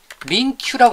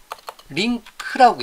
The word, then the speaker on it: LINQ: 그리고 이거에 대해서, 링크에 대해서 링큐라고 안 합니다. 링크라고 해요. 누가? 이분이, 앤더스 헬스버그가 링크를 만들었을 때 링크라고 명확하게 발음합니다.